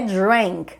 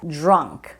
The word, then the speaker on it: drunk: verbo to drank e cuidado que não é drank drank é o Simple P então to drink drank aqui é drunk like by the time